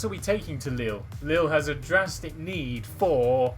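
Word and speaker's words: Lille: are going to uh liil is it pronounced liil we are traveling to liil Lil yeah in France in France in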